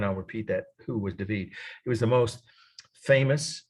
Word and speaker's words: David: so here we go this is David or David um is the way we'd say in English but it's pronounced every time I've heard people in Paris